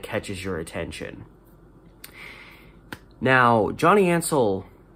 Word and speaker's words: Ansel: name was spelled n-n-a-n-s-e-l so i think ansel it's hansel without the h is kind of how i think about it johnny ansel had been working for